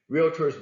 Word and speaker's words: Realtors: you buyers sellers Realtors Realtors by the way is a two-syllable word not reality not three and if those that